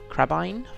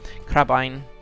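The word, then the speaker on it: crebain: a good number of crabbin like crab crab ein I think you pronounce them like Doudna dine crab ein up here just asking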